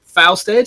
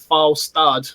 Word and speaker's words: Falstad: I mean, we got called out in chat a while ago, I think, because I said Falstead, and everyone's like, no, it's Falstad.